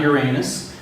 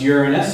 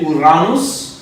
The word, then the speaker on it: Uranus: last destination, is probably the most mispronounced place in the universe. Uranus, yes. And of course, it's not Uranus. It's Uranus. And actually, if you want to be extremely pretentious, you want to say Uranus.